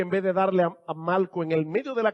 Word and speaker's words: Malco: que se llamaba Malco, y no estoy pronunciando Marco mal, es que se llamaba Malco con L.